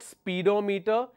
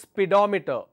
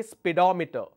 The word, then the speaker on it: speedometer: as speedometer it's not speedometer it's speedometer because spe is where the stress is so I say speedometer the same thing happens